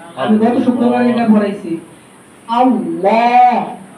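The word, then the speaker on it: الله: বলি বলি না আমরা আল্লাহ বলি কিন্তু মূলত উচ্চারণটা হবে কি আমি গত শুক্রবারে এটা পড়াইছি আল্লাহ আল্লাহ আল্লাহ শব্দ কি হয় সবসময় মোটা হয় ফুল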